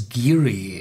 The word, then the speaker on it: Garioch: It's a Glen Garioch. It's written Glen Garioch, but it's pronounced in the old Doric Aberdeenshire dialect as Garioch.